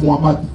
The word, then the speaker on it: Mohamed: Mohamed, je ne peux pas prononcer, il faut dire Mohamed.